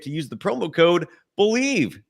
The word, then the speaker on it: BLEAV: Head to BetOnline today and don't forget to use the promo code BELIEVE, BLEAV. It's the name of the network. It's spelled uniquely.